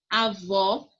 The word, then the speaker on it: avó: Avó, o vó é a sílaba mais forte.